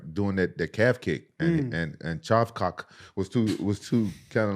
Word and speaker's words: Shavkat: He kind of stabilized everything by doing that calf kick, and Shavkat was too kind of like hesitant to come in.